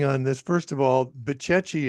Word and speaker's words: Bucegi: First of all, Bucechi has a very strange spelling. It's Bucegi, the Bucechi Mountains. I wouldn't have pronounced it that way.